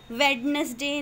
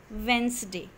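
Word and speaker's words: Wednesday: Syed वेनसडे वेनसडे दिसंबर okay वेडनेसडे नहीं होता है वेनसडे स ए मूवी देख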